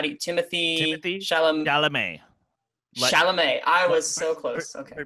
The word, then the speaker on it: Chalamet: Chalamet. I was so close. Okay. Pretend you're saying the name Charlemagne, but you just take out the N-E. The N-E. Chalamet. Chalamet.